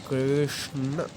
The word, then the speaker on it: कृष्ण: आप मेरे साथ पढ़िए कृष्ण कृष्ण कृष्ण। इसका उच्चारण आपको पता ही है, दंत से होगा और इसका उच्चारण जो हमारी तालु है उधर से होगा।